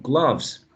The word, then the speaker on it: gloves: So remember that is as in up, up, up, cut, glove, glove.